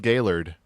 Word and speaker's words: Gaylord: It's actually pronounced Gaylord, too. I drove through it every single time I went to college. I always thought it was Gaylord, too. But no, it's pronounced Gaylord.